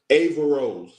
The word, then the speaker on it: Averroes: Is it Avarose or Barose? Aarose. Aarose. Bar.